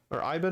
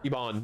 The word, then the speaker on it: Iban: I haven't or Ivan. I'm not sure how you pronounce his name. Ebon. Iban. There we go.